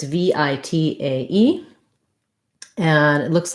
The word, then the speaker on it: vitae: american version curriculum vitae vitae curriculum vitae so the overall stress on the phrase the main stress is on the v v tie curriculum v tie um yeah okay so